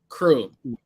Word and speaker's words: Kyru: Kyru, right? Did I say it right? Crew. Just like Crew, but with a K.